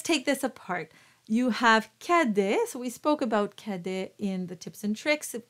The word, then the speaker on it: Cadet: speechos so let's take this apart you have kedes we spoke about kede in the tips and